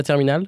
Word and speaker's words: terminale: La terminale, which is the last year in school, there's an E at the end. You don't pronounce it. You don't say la terminale.